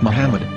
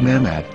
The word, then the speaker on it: Muhammad: According to Ben Yehuda's Hebrew English dictionary, it is correctly pronounced as Muhammad, not Mahmad.